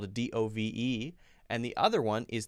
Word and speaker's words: Dove: And the company is pronounced the second one, the noun form. Dove. Dove is the short U sound. But the other one is not the long U sound. It's the long O sound.